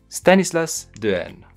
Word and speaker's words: Stanislas Dehaene: kind of like how I learned to properly pronounce the author's name at the beginning of this video studies let's do it Stanislaus durian we recombine our skills to solve new problems